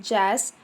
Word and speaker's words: JAAS: JAAS, pronounced as JAS, it means Java Authentication and Authorization Service.